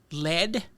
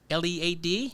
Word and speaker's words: lead: Lead, LEAD. Yeah. And lead. Like the Yeah. like the mineral. Right. And lead, Right. LEAD. Right. Like in leadership. Yeah. But lead, LED, as in leading.